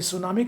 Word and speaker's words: सुनामी: विश्व में सुनामी के प्रति, सुनामी समझता है, जो आता जापानी शब्द है टी, सुनामी, टी साइलेंट है, समुद्र में आता जो